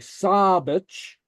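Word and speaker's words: sàbaid: a broad vowel it's pronounced like an s in English like sabage saage which is Sabbath the LA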